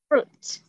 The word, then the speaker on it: fruit: Chúng ta sẽ học về fruit. Hoa quả tiếp. Bài cuối. Fruit. Yeah. Fruit. Chữ R nha, không phải food.